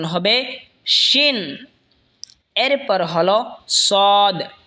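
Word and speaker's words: ص: এরপর হলো সদ। সদ জিহ্বার আগা সামনের নিচের দুই দাঁতের আগার দিকে লাগা উচ্চারণ হবে সদ অথবা সোয়াদ, দুটোটাই বলতে পারেন।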